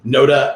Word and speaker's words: Nota: dr uh uh uh nota like yoda he says uh his